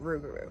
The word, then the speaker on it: rougarou: So instead of saying Loup-garou, they pronounced it Rougarou.